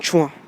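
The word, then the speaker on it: tchoin: Une chouin. Ah, pas du tout, non. Moi, non, ça me dit rien. Une chouin.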